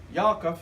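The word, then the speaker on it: יעקב: James, and the Hebrew spelling is Yaakov. Yaakov is how I would pronounce it.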